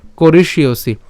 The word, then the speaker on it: করিষ্যসি: আমরা এখানে করিষ্যসি উচ্চারণ যেটা করছি, আমরা এখানে মূর্ধন্য স পর্যন্ত নিয়ে আসবো করিস এবং জফলার জন্য হচ্ছে ইয়। তাহলে উচ্চারণটা কেমন হবে, ইয়সি, ঠিক আছে, করিষ্যসি, করিস ইয়সি, করিস ইয়সি, ঠিক আছে।